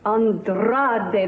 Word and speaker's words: Andrade: Andrade, that's right. You must roll your R's when you say it all the time now.